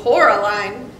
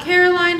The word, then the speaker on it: Coraline: They kept calling you Coraline, not Caroline. Not Caroline at all.